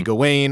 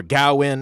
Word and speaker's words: Gawain: Although Sir Gawain, which for the pronunciation, different places, different ways. So it could be Gawain or Gawain. And then Lowery was saying, Sean Harris, who plays King Arthur in this, he said Garwin or something in the movie.